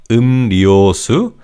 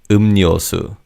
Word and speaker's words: 음료수: drinks, soda, under the 음료수 section. And in terms of pronunciation, the 리을 in the second syllable changes to 니은. So it's not 음료수, it's 음료수, 음료수. Let's practice saying this word 음료수, which means beverages.